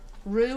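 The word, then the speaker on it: roux: turns into a rope r-o-u-x by the way Rue I guess technically is how you say that I don't know I'm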